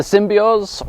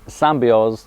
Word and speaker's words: Symbioz: It's called the Symbioz or the Symbioz, depending on exactly how you choose to pronounce it, but it slots in